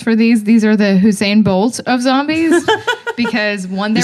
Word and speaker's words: Usain: These are the Usain Bolt of zombies because one, they were fast. Wait, did you say Hussein Bolt? Usain Bolt. Whatever.